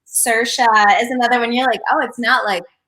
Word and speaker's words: Saoirse: name that is common time that's like often mispronounced. Saoirse is another one. You're like, oh, it's not like Saoirse or something. You're like, oh, so you say that? Saoirse.